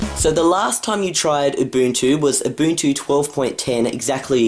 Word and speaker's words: Ubuntu: Not to mention how you incorrectly pronounced Ubuntu. Yeah, I said Ubuntu. Ubuntu. Like sneezing.